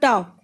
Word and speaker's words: talk: Look at the word talk. Here L silent.